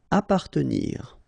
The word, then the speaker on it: appartenir: Appartenir, okay, double P, basically you don't pronounce the double, so you just pronounce appartenir.